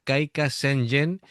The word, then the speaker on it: Kaika Sengen: La traducción de este tema, bueno, mejor dicho, ¿cómo se pronunciaría? Sería Kaika Senjen, porque he tenido que buscarlo porque los caracteres así japoneses como que yo no los domino.